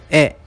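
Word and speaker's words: へ: Note that this particle is pronounced as e.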